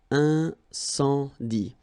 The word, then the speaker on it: incendie: And then you get the nasal. Incendie.